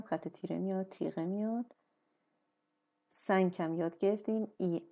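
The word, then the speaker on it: cinq: ان کامل تلفظ میشه و کیو کیو که با او میاد معمولا اینجا او هم نمیاد ولی همون صدای ک رو میده و با اینکه کنسو هست تلفظ هم میشه سنگ یعنی پنج خب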